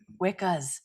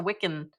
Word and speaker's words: Wiccan: Wiccas. It's Buffy says it because then Xander does say later on, he's like, "Well, she's all about the Wiccan." He does say it correctly.